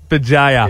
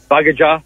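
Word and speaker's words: Bugeja: Bajaya, sorry, mate. Bajaya's a cool name. That's a curly one, though, isn't it? Bajaya.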